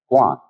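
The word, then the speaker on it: 觀: And that means seeing and the whole character is pronounced guan.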